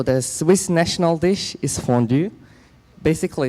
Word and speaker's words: fondue: heavy and it's called fondue fondue is from the french-speaking part from Switzerland so it's pronounced French so I'm gonna introduce